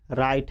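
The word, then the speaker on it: write: verb क्या है लिखना लिखना का राइट ये राइट है ना कि व राइट डब्लू साइलेंट राइट उसके बाद क्या है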